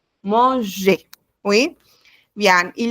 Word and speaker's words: manger: Oui, no olviden, no se pronuncia la R al final de cada palabra. Bueno, en el caso de los verbos, ¿no? Cuando es ER, solamente E. Manger.